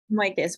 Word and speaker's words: Michos: Can you tell me how you pronounce your name? I'm sorry, I think I've been saying it wrong. Michos, but you can just call me.